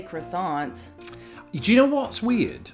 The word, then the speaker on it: croissant: So, when I'm ordering something like that, I will say croissant, but back in the day it was more like quason. I'd go full French with it.